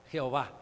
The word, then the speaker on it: Yahvé: impronunciable, el tetragrama JHWH, que se puede traducir como Jehová o Yahvé, porque le pones A y E, Yahvé, le pones A y E, Jehová, E-O-A.